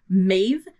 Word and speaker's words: Maeve: We also have Maeve, which is spelt either M-A-E-V-E or M-E-D-B.